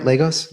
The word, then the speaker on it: Lagos: like growing up in Legos and that my pronouncing it right Legos Legos Legos okay Legos is kind of like